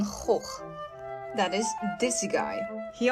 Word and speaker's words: Gogh: is not Vincent van Gogh it is not where are you van going no no no it's Vincent Van hoek that is dizzy guy